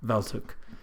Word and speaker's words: Walczuk: last name hook bells hook spelled with a W yes sir and it's